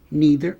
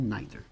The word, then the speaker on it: neither: Neither ou neither.